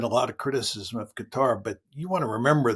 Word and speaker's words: Qatar: I always want to say Qatar, but it's Qatar is the correct pronunciation, is it not?